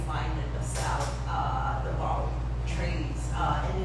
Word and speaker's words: bouty: new body of work, which are these bottles, bouty bottles.